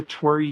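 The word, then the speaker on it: torii: It's called the Tori Gate, which makes me happy. It's not spelled like my name. It's spelled T O R I I, but it's um it's a Japanese um gate.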